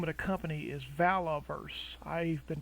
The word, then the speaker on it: Valaverse: of Pandora the name of the company is valoverse I've been pronouncing it incorrectly I think I've been saying valve first with a V but it's really Valor first v-a-l-a-v -e-r-s-e and I've been pronouncing it incorrectly